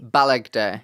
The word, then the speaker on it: Balegde: Okay, how do you say your surname? Remind me. Balegde.